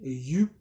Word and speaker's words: Yuh: Donc cette fameuse FinTech, elle s'appelle You. On va dire You parce que c'est comme ça se prononce en Chine. Ce n'est pas du chinois, c'est du suisse.